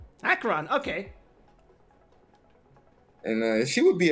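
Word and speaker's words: Acheron: How do you pronounce her name? Akron. Akron.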